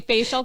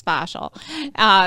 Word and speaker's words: fascial: I keep on saying facial because when you look at it, it's spelled that way, but it's fascial.